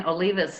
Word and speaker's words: Olivas: name that was fine olivas is how i pronounce it okay wasn't quite right